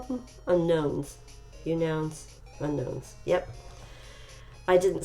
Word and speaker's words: Unown: Unowns. Unknowns. Yep. I didn't say them right. I was stubbornly trying to pronounce them the way they were spelled, which was open for interpretation in my in my humble opinion.